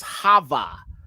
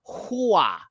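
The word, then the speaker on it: הָוָא: 933 okay but see they pronounce it as Hava but it should be Hua not Hava Hua all right so he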